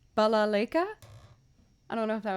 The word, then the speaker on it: balalaika: to play if i've ever tried the balayka i don't know if that's how to say it actually yeah that's totally wrong balalaika i don't know if